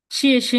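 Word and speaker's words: 谢谢: শিয়ে শে নি, শিয়ে শে, শিয়ে শে মিন্স কি থ্যাংক, ধন্যবাদ।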